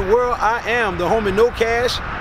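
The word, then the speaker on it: Know Cash: everybody out there in the world, I am the homie No Cash. The K is silent.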